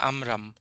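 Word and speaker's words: עמרם: ইমরান নিয়ে একটা কথা, ইমরান বা এটার হিব্রু প্রোনাউন্সিয়েশন হলো আমরাম, রাইট?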